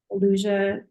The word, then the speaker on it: Eleusia: My individual coaching practice, Elusia Psychedelic Integration Coaching. It's spelled ELEUSIA.